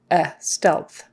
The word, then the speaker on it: stealth: process stealth stealth um so that e stealth stealth you've got an e that would be a short e a short e sound is in red stealth you got an l and a th again um before we had WTH with growth and now we have lth so tongue up for